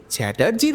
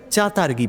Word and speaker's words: চ্যাটার্জি: আমার পদবীর উচ্চারণটা কেমন হওয়া উচিত তা আমি বেশ কয়েকবার শিখিয়েছি ওলগাভকে, কিন্তু উনি প্রতিবারই ভুল করে চ্যাটার্জির বদলে তাকে চাতার্গি বলেন। রাশিয়ানরা টকে ত বলে, আর জ এদের উচ্চারণে গ, যে কারণে রাশিয়াতে পা দেওয়ার